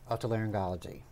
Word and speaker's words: otolaryngology: You practice otolaryngology.